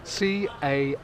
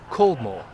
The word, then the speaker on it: Caldmore: Now, I think I should point out that the word Caldmore isn't actually spelt as it's pronounced, and I should know that because I've lived in Walsall for most of my life.